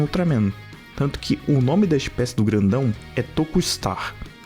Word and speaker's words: To'Kustar: Way Big's species is To'Kustar, which is pronounced "Toku Star", literally Tokusatsu (特撮) star, because Ultraman is one